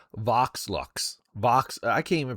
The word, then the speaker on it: Vox Lux: It's Vox Lux. Vox. I can't even pronounce it.